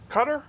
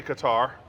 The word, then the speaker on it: Qatar: oh that's right I like that that's right cutter or Qatar I say Qatar here's the way you say it right guitar putting major finds in